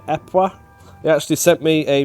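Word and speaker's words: Ieper: Apparently, it's more accurately Epois in Belgian French. So I called it Cyprus. Apparently, you call it Epois.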